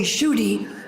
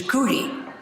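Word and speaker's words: Shruti: that Rishi Kumar, and my name in Sanskrit is Kshuti. In English, they say Shuti, and Prabhupada used the Bengali pronunciation, which is Kuti.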